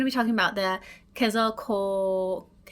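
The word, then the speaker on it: Quetzalcoatl: my whole life because now I have the pronunciation right here. And uh we're going to be talking about the Kazal Kal. So though not strictly an ampheter, the Ketzel Kato is a feathered serpent god from Mesoamerican cultures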